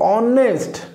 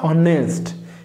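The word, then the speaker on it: honest: शुरू हुआ है लेकिन एच यहाँ पर साइलेंट है। जब आप इसी वर्ड को प्रोनाउंस करेंगे आप कहेंगे ऑनेस्ट, नॉट हॉनेस्ट।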